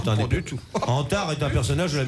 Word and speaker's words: Antar: Non, non, il y avait une bonne raison pour que ça s'appelle Antar. Antares?